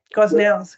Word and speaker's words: Gosnells: Yeah, Gosnells, close. Anthony Procino, is that pronounced correctly, Anthony?